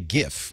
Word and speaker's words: GIF: Every time I say GIF or JIF for the GIF graphics format, I'll get an email saying, no, you're saying it wrong.